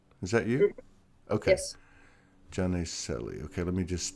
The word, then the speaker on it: Janne: Yes, Janne. Like with mm-hmm. Like what? Like with Y, Janne.